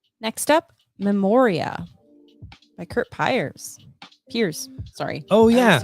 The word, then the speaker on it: Piers: Is it Piers or Piers? Piers? Piers. Then we said it wrong. It's Piers.